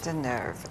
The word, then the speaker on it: Deneuve: Catherine Deneuve. Deneuve, absolutely.